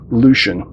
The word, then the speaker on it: Leixen: the way this is pronounced Lucien like the character that Peter Weller played on Longmire so we get a